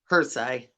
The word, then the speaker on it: Hrycay: Hersai. Huh? Hersai. Hersai? Yep. So Mary Ann Hersai? Yep. Hersai. Yep. Like a Y at the end.